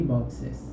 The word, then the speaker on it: boxes: One box, many boxes, boxes, ¿ok? Si se dan cuenta, se pronuncia la E, en este caso, boxes.